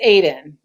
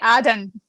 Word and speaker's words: Aiden: ilium mm-hmm correct and it's aiden i say adan wow i felt like